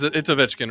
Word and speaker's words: Ovechkin: Alex Ovechkin, it's Ovechkin, right?